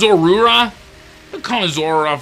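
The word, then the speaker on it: Zorua: Okay, I know it's pronounced Zorura.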